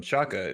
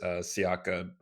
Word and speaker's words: Siaka: names and uh yeah that's how i was taught to pronounce it and you can also pronounce that name as siaka it i guess it just depends on you know what language you're speaking or uh where you're from but if you if